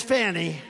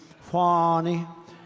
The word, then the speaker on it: Fani: though it's I believe it's spelled f ni to my way of thinking that's Fanny but when she became the district attorney I think she put a little emphasis on the U fonnie so corrupt fonnie Willis